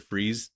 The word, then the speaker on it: Fries: Freeze story. Yeah. Do you know he's his name is spelled like fries? It's pronounced freeze, but it's like f R I E S.